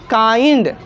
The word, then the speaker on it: kind: तो IND जब एक साथ आए तो इसका उच्चारण क्या होगा? आई। क्या होगा? आई। तो इसका यहाँ पे जो उच्चारण हो रहा है क्या हो रहा है? आई का उच्चारण आई हो रहा है कि नहीं? इस ये जो वर्ड है इस वर्ड को क्या पढ़ेंगे? काइंड। क्या पढ़ रहे हैं दोस्तों?